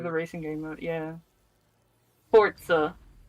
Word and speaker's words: Forza: racing game mode yeah Forza it's pronounced like pizza it's Forza Forza Forza for for